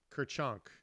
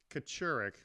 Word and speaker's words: Kachurik: show and today our special guests is Kerr chunk and I'm totally telling saying her name the